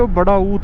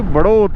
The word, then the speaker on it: बड़ौत: फिर हमने हिंदी नक्शे का जुगाड़ करा किसी तरह, और उस नक्शे से पता चला भाई ये बड़ा ऊत ना है बल्कि बड़ौत है।